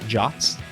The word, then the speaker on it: JWT: we'll be chatting about jots and if you don't know what a jot is not there is no o in the acronym that it comes from uh we'll be discussing